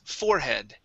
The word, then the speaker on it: forehead: Okay, so here, instead of saying forehead, the word is forehead. Okay, so yeah. We stress the beginning, all right?